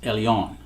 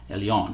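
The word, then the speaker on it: ἔλεον: It's actually spelled E-L-E-W-N. E-L-E-W-N, but it's pronounced Elion. Elion.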